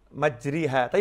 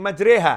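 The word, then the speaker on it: مجريها: Nabi Muhammad SAW salam karena ada tulisannya bismilahi majreha Hey majri hati bacanya bismilahi majreha Hai tulisan dan ucapan berbeda ya itu harus bisa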